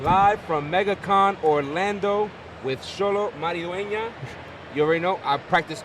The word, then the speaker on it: Xolo Maridueña: I am live from Megacon Orlando with Xolo Maridueña.